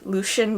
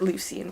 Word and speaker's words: Lucien: saw more of loose Lucien Lucy and I pronounced at leucine but I think it supposed to be Lucien whatever Lucien and Tamlyn because